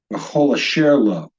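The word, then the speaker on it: וְכֹל אֲשֶׁר לוֹ: So this word would be pronounced v'chol asher lo.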